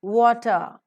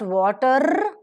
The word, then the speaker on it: water: W-A-T-E-R, water. The R sound, E-R, A-R, O-R. Whenever they occur in the word final position, R sound is never pronounced. So it is not water, it is water.